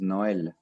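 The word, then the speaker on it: Noël: in French okay so Christmas in French is Noel like Noel like Papa Noel so you just say and papa Noel yeah you just say Noel I don't know the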